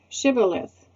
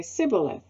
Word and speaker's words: shibboleth: i'm not they would tell him to say shibboleth if he was from ephraim he would say sybileth because people from ephraim cannot pronounce the word correctly then they would take